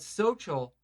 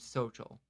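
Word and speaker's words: Xochitl: work with this girl named Social. It was Okay. XOTCHL, something like that. But I used to, every time in my head, to remember how to pronounce her name, I used to say, so chill.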